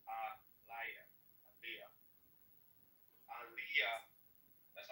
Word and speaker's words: Elijah: But the word they call it Elijah, it's not pronounced like it's pronounced Aliyah.